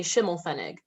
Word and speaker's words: Schimelpfenig: The P is silent. That's what gets everyone.